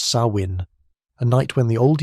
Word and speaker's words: Samhain: They called this time someh pronounced sawin.